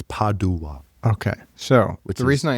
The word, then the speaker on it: Padua: So, is it is it pado or pad? Yeah. Well, in Italian it's padd. Okay. So, and in English it's padua.